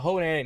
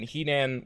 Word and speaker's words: Henan: In the 70s, 80s, 90s, this was a real pronunciation for that. Like, the Honan, Henan, whichever you prefer province, is where the Shaolin Temple is located in IRL China.